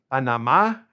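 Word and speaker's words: Panamá: Panama is Panama, accent on the last A, and they are Panameño, tilde on the end, Panameño.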